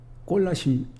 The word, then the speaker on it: 골라심: 골라심 1장 26절, 27절을 보겠습니다. 골라심은 골로새서라고 그랬어요. 골로새서라고 발음하지 마시고 골라심이라고 발음하세요.